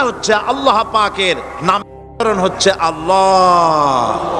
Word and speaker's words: আল্লাহ: আল্লাহ পাকের নাম হচ্ছে আল্লাহ মুখটা একটু গোল হয়ে যাবে বলেন আল্লাহ আল্লাহ পৃথিবীতে বিভিন্ন